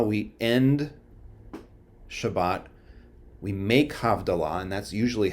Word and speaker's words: havdalah: do have allah we end shabbat we make havdallah and that's usually how it's said is we make havdalah because we're making a distinction we make havdalah